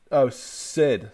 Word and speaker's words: Syd: He says, Kevin, it's pronounced, Sid.